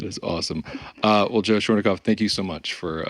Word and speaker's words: Schornikow: that way that is awesome uh well joe schweinkoff thank you so much for uh for being